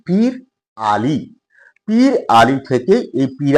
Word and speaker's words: পিরালী: আর এই প্রত্যাশা নিয়ে আজকে কথা বলব পীরালি ব্রাহ্মণ। বাংলার ব্রাহ্মণ সমাজের একটি থাক বা উপসম্প্রদায় হল পীরলী ব্রাহ্মণ। যদিও এর প্রকৃত উচ্চারণ হচ্ছে পীর আলী।